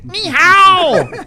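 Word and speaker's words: 你好: Well, you're saying it wrong. It's ni hao.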